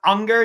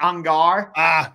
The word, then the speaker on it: Ungar: Just to clarify, it's actually pronounced Unger, not Ungar.